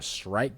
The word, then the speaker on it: Shrike: Bro, I'm gonna be honest with you, like this Shrike guy, that's how you say it.